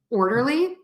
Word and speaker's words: orderly: All right, so again, the rule is we're going to stress syllable number 1 in words ending in ER and LY.